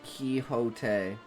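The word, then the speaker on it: Quixote: It's a direct quote from the dawn Quinn Quincadi movie pronounced Kiote.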